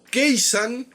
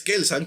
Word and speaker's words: Kelsang: me dice cómo pudo keisan es kelsang por cierto El Maestro